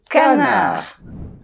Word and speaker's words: canard: Donc, surtout, ne dites pas « je voudrais un magret de connard », mais vous dites « un magret de canard ».